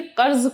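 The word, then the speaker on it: قرض: भरोसा था कुछ रुपया कर्ज मांगा अब देखिए कर्ज का तलफ्फुज कर्ज मगर सबने टका सा जवाब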